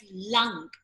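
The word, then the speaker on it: लं: So, beach mantra of Muladhara chakra is lung, L-A-N-G, lung, or lam, L-A-M. Both are right.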